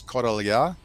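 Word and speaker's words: Correlhã: And Bob and Viv are my neighbors, and the town is spelled Correlha, so the double R is rolled, and you have the LH, so it's Correlha.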